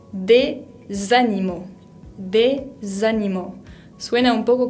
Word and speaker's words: des animaux: pronunciar porque vimos que la S final no se pronunciaba. Pero como le sigue una palabra que empieza con una vocal, en este caso la A, tenemos que unirlas para que quede más fluido.